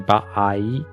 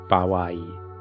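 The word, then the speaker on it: 場合: Sometimes you hear it pronounced by, like can be ba'ai, ba'ai, or bawai, bawai, depending on the pronunciation changes because like pronouncing like 3 or 4 vowels that are basically the same in Japanese is a bit difficult even for Japanese speakers.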